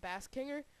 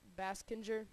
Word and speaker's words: Baskinger: Pro Shops Cup Series under the name of Jake bass kinger but on uh but apparently I mispronounced that all season so his real name is Jake baskinger not Bass kinger um 10 is Matthew